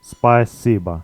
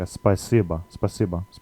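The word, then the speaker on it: спасибо: written in Cyrillic just spicyba spicy but there's a little bit of a difference here um there's sort of like an e sound after the a so it's like a spacebar but you can just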